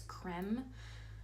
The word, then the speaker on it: creme: LA girl natural creme I was saying it wrong for the longest time it's creme um lip liner and